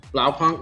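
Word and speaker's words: Blaupunkt: sexy which one the blow Punk one the pink and white one oh yeah I might be saying that word wrong yeah blow Punk no no you're saying it right yeah that's what I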